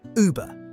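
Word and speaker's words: Über: Say E, then round your lips. Uber, above.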